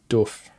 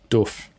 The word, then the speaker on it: doof: It's doof. Everyone in America says dof do uh how do you say it? Doof doof. Doof. Doof. Okay. It's like a like oof.